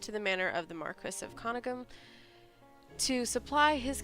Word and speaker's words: Marquis: during the night when the Marcus Marquis hate when people say that wrong but technically it's supposed to be pronounced Marquis the only person in possession